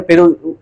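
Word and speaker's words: في: अच्छा, एक लफ्ज है फी ही, तो इसकी हिज्जे किस तरह होगी, फा या जेर फी, क्योंकि इस या साकिन से पहले जेर है, या मद्दा, इसको एक अलिफ के बराबर खींच के पढ़ेंगे।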